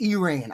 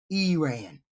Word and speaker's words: Iran: Bombed Iran. I'm sorry, it's pronounced Iran.